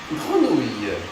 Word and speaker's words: grenouille: Grenouille.